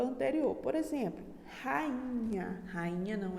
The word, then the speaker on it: rainha: Ou seja, rainha é uma palavra que ela é hiato, tá? Rainha. E também é paroxítona, tá? A sílaba tônica é o I, tá? Ela tem 3 sílabas, rainha.